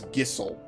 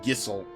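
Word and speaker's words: Gysahl: I'll tell you actually I'm sorry it's gissel again Final Fantasy 16 pronounced it correctly it's gissel unbelievable uh I mean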